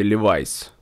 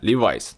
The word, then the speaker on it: Levi's: А как правильно говорить, Левис или Ливайс? А вот если вы не знаете, давайте спросим у Сири. Сири, как правильно говорить? Levi's right to speak. В следующий раз говорите правильно, Levi's.